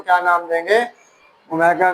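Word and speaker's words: omega: नीचे लिखा हुआ इफ we name any वन of these as ओमेगा pronounced as ओमेगा, ये नाम आपको दिया हुआ है कि W को क्या कहते हैं, ओमेगा कहते हैं।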